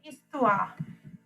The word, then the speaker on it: histoire: S එක pronounce කරාට H එක pronounce කරන්නේ නැහැ. Les hommes. is the men, and les histoires, the histories.